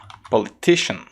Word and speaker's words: politician: Como, por exemplo, na palavra politician.